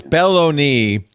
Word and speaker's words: Belloni: No, it's Belloni. B E L L O N I. Probably a pet It's probably a pet peeve of his that everyone says it wrong. They're like, "Let's put it in.